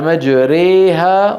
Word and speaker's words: مجريها: أو يقال هي النطق بالألف الممالة بين الألف والياء الصحيحتين، وتكون في رواية حفص في كلمة واحدة، هي قوله تعالى مجريها، وين؟ في سورة هود. وقال اركبوا فيها بسم الله هي مفروض مجراها راها.